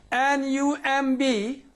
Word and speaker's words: numb: N-U-M-B.